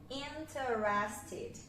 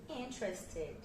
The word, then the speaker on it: interested: Porque a gente quer separar as sílabas, a gente quer colocar, né, todas as sílabas. Só que na verdade, olha como aqui o teres, na verdade fica teres, fica trust. Então, interested, ok?